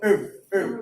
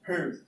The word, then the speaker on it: herb: You know, American English, they tend to silence the letter H. They go herb. But British, herb. So they include herb.